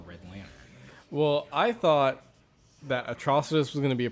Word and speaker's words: Atrocitus: like I was saying his name wrong it's Atrocitus like atrocity yeah and look at